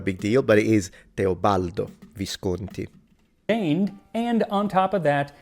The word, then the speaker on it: Teobaldo Visconti: so not a big deal, but it is Teobaldo Visconti.